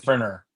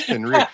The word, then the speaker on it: Fenrir: All right, because I said Fenrir. Fenrir? No, it's Fenrir. Hey, you Everyone's guys gonna came up with pronounce the it wrong, name.